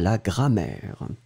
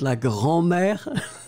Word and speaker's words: grammaire: au calcul et à la grammaire. Let's agree that it's la grammaire and not la grand-mère like we had previously.